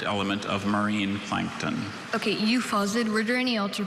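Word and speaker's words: euphausiid: Okay, euphausid, were there any alter pronunciations, or is it just the one? I have just the one, euphausid.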